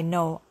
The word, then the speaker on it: know: The pronunciation, be careful with no, I know. I now 아니에요. Not now.